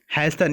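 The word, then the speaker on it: hasten: Loiter का मतलब होता है कि देर करना, ठीक है, और इसका उल्टा हो जाएगा हैसन। यहाँ पे टी साइलेंट होता है।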